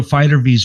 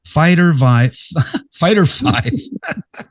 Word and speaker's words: Fighter V: They want to pronounce that Fighter Vive. Fighter 5. I've been saying Fighter V the whole time, but it's a Roman numeral for 5.